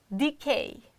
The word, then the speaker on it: decay: or the next one Decay Decay you see e d k k is strong syllable therefore we can't reduce the sound but we can reduce the first syllable which is unstressed and it is a